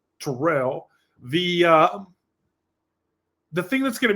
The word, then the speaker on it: Terrell: It's the new Terrell Owens or Terrell Owens. And it's pronounced Terrell.